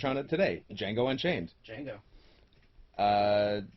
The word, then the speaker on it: Django: it today django unchained django uh the d is silent the d is silent